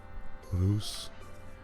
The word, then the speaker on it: Reus: We're going to call it Reus, but the actual pronunciation is Reus, and it's Dutch for... It's simply the Dutch word for a giant.